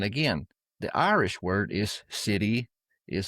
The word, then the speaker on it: sidhe: And again the Irish word is city is spelled s i d h e describing the